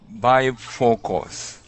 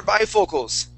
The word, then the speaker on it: bifocals: Good, yes, and this would be pronounced bifocals. Bifocals. Good, one more time, bifocals.